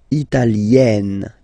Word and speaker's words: italienne: L'Italie, italien, italienne. Remember, when you get this followed by a double consonant like here, then you will have to open it. Italienne, italienne.